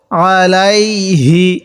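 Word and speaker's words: عَلَيْهِ: এই হা উচ্চারণের সময় একটু মুখে আওয়াজ করব, আলাইহি এরকম করে পড়ব।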